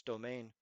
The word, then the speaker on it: demesne: Now, this word is annoying because it's spelled Demesne. It is the area of account, but it's pronounced domain.